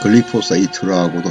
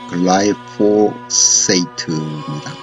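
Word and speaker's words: glyphosate: 대한민국에서 글리포세이트라고도 하긴 하는데 미국식 발음에 의하면 글라이포세이트입니다.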